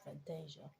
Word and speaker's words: Fantasia: Um, in the book, it pronounced as Fantastica, but in the movies, it's pronounced as Fantasia.